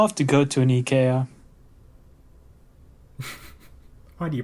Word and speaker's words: IKEA: Now it's not like at IKEA, the American flag and the Swedish flag both fly at the same height. I'm pretty sure IKEA would not have it any other way though.